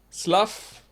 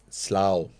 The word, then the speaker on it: Slough: S L O U G H Oh, slow? Slough? Slough. Slough? But you could have just done S L A W slough but S L O U G H slough.